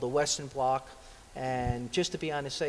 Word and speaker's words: blot: It's called a Western blot.